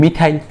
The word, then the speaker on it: methyl: দেখো METH, এরপর দেখো ANE বাদ দিয়ে YL, তাই উচ্চারণ কি হবে মিথাইল।